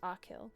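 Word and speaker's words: Achill: It's part of County Mayo, one of five counties in the province of Kact, pronounced Akill.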